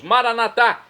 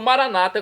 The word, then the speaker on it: Maranata: aramaico dialeto de Jesus maranat como dizemos nós católicos ou Maranata como dizem nossos irmãos separados dos Evangélicos ou protestantes não importa pronúncia o significado é o mesmo vinde Senhor Jesus um